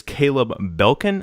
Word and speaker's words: Caleb Belkin: And his name is Caleb Belkin.